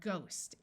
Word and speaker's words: ghost: There are some words where the H is silent, like in the word ghost.